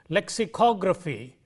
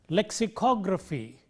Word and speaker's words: lexicography: Let's take, for example, geography or biography, lexicography, and so on. the syllable immediately preceding gr is o. So, geography, biography, lexicography, calligraphy, and so on.